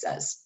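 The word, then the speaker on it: Sez: just call me miss says and i abbreviate that s-e-z and it's pronounced like simon says although it's not spelled that way so if you were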